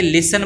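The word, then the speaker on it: listen: नहीं ए रहा और जो लिसन है इसको अपने बोलेंगे लिसन बोलते हैं लिसन तो लिसन में के अंदर टी जो है वो साइलेंट हो जाएगा तो जो साइलेंट शब्द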